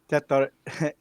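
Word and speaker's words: Tetairoa: Tetiora McMillan. Pronounce his name properly for me, Brian, please. Tetiroa. Tetiroa McMillan.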